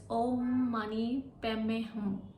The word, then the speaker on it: Om Mani Padme Hum: It's actually a soul mantra and it goes like Om Mani Padme Hum. Om Mani Padme Hum. And in Tibetan Buddhism, it is pronounced as Om Mani Padme Hum.